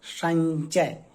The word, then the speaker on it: संचय: जब आप इसका उच्चारण करेंगे तो यह अनुस्वार की तरह नहीं, बल्कि यह इया की तरह उच्चारण होता है, संचय।